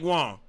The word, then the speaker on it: Wang: So there's no way it could be anything other than Mike Wong. You really don't even pronounce the G either. It's more like Wong.